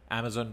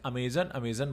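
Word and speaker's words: Amazon: अच्छा, बहुत सारे लोग इसे अमेज़न बोलते हैं, तो आप लोग अमेज़न मत बोला करिए, सही प्रोनाउंसिएशन जो है वो अमेज़ॉन है। आप अगर हिंदी में भी बोल रहे हैं तो उसको अमेज़न मत बोलिए, अमेज़न कुछ है नहीं एक्चुअली, अमेज़ॉन नाम है।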